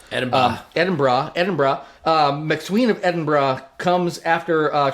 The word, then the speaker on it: Edinburgh: I actually looked up how to pronounce it. I used to always do Edinburgh. It's Edinburgh. Edinburgh.